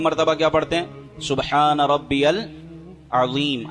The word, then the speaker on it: سبحان ربی العظیم: سبحان ربی العظیم، عین کی آواز نکالنی ہے، سبحان ربی العظیم۔ بعض